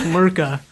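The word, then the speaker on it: Myrka: I mean, I don't think you can forget the Murka, the Murker, or whatever it is. The Murka. Murka. Well, I don't know. British people, like, don't pronounce, like the final R's in a word.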